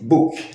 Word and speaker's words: book: A pronúncia é diferente da grafia. Por exemplo, a palavra book, livro, fala-se book. A grafia B-O-O-K. Esses dois Os têm o som de U, certo? Então escrevemos book, falamos book.